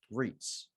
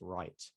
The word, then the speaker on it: REIT: greg for adding the ticker symbols in so reits and i've said it like 50 times now but i thought i'd add it in already it is pronounced reit it is not pronounced right so it is a special class of company